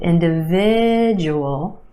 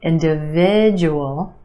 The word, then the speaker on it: individual: Emphasis on the third syllable, the sound, individual, individual. The second syllable is where you have the schwa, d, d. Inda, inda. Individual, individual.